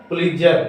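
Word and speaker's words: Pulitzer: उसका क्या नाम है पजर पजर टी साइलेंट हो जाएगा पजर प्राइज या हिंदी में पढ़ेगा तो पजर प्राइज पलेजर प्राइज मिला है किसके लिए उपन्यास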